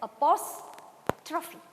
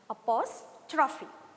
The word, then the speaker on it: apostrophe: The word is pronounced as apostrophe. Apostrophe.